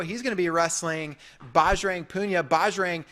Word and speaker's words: Bajrang: I think Jo or Bajrang.